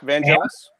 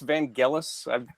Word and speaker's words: Vangelis: Yes, Vangelis. Actually, I think it's Vangelis. I've just like recently started correcting myself. But Either way. With 2 pronunciations, one of which is correct.